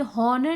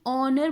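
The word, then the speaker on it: honour: ऑनर, ये दोबारा आप ये देखिए एच से शुरू हो, लेकिन इसको जब हम प्रोनाउंस करते हैं ये हॉनर नहीं ऑनर बोला जाता है।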